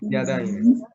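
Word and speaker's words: ידיים: Es que, igual que en el masculino, se agrega yod mem, pero con la diferencia que la letra de atrás se tiene que leer con una A, por eso está aquí este circulito aquí.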